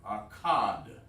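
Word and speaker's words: אחד: Akkad. Akkad. In Hebrew. That's how you say 1 in Hebrew.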